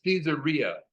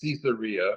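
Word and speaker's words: Caesarea: my son has corrected me on how to pronounce cesaria it's cesaria okay he listens to these books on tapes by these persons that know grammar better than I and it's cesaria but I'm gonna have a hard time to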